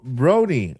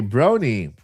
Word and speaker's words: Brony: By the way, my name is actually pronounced like Bro Brony. Okay, Brony. So, it's Brony like bro and pony.